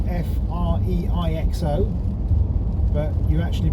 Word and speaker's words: Freixo: Now it's spelled F-R-E-I-X-O, but you actually pronounce it Freixo.